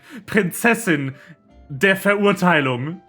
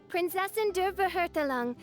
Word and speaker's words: Prinzessin der Verurteilung: Her most desperate attempt at pronouncing Prinzessin der Verurteilung. I, Fischl, Prinzessin der Verhurtelung, descend upon this land by the call of fate and...